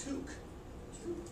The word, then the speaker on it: toque: It's called a toque. Yeah. Now toque is an 11 on the bell clock.